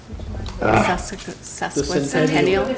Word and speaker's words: sesquicentennial: Can you pronounce that word for me? Sesquicentennial.